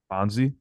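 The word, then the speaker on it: Bonzi: close Birch well no you just just pronounce it differently bonsi 100 racks in my sweatpants did my scoring in Portland I'm bonsy Wells with the headband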